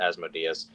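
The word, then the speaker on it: Asmodeus: at you're like wait as modius or sometimes he's pronounced asmodus it's like asmodus is a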